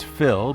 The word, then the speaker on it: Fille: Fille Wines, it looks like Et Fille, but is pronounced Fille, is a unique winery with a unique backstory.